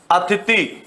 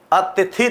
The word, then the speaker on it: अतिथि: मैंने एक शब्द लिखा अतिथ नहीं बोलते क्या हम कई बार उच्चारण नहीं करते क्या मेरे घर आज अतिथि आए हैं अतिथि अतिथि नहीं अतिथि आए हैं तो ये अशुद्ध है उच्चारण हम इसका क्या कर रहे हैं गलत कर रहे हैं अब यहां पर